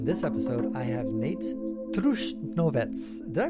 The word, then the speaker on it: Trušnovec: In this episode, I have Nejc Trušnovec. Did I pronounce that right, Nejc? Yeah, it's Trušnovec, quite right.